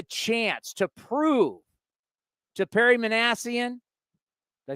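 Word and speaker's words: Minasian: You're getting the chance to prove to Perry Manassian. Did I say it correctly? Yeah, Manassian, you got it.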